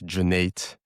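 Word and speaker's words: Cüneyt: The C is like a J, so it's Cuneyt.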